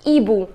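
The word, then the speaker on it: hibou: boom the pronunciation is EBU remember now in French with right H but we do not pronounce it this H does not have its pronunciation so it is not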